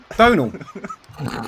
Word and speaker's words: Donal: I thought it was Donald. Donal. Yeah, I thought Donal. Donal? Donal. Yeah, no, that's perfect.